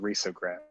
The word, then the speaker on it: risograph: keep doing this it's i guess it's technically pronounced risograph hey where are you